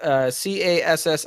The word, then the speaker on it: Cassim: And the Kasim. Oh, Kasim. Well, I just spelled it CASSIM. I am. Okay. Great. Cassim. Somebody will be like, "That's not how you spell it," and you know what?